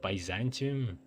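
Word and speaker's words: Byzantium: That's how it's pronounced. Baantium.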